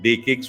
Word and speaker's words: DE-CIX: so it's called Uh day kcks with a whether it is written like C but pronounced with the K so it is the